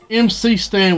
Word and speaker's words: MC Stan: We got McStan, I think, or MC Stan. Still don't know how to pronounce it. I thought it was MC Stan. He pronounced it McStan.